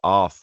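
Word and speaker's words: Arð: And then my solo project is called Arth, which looks like it's spelled A-R-D. The D has a little diagonal line through it because I needed to make it needlessly complicated.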